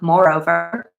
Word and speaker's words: Moreover: They end up naming this dog Moreover, kind of like Rover, rhymes with Rover, they say.